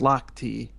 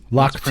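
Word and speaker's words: Lochte: My wife is showing me that it's pronounced Lock T. Lock T.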